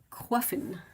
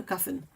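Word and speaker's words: croiffin: treat yeah a cruffin they they spell it c r o i f f i n like qua from from qua from quasa and Finn from muffin so a Quin not a Cuffin not not quite we had something earlier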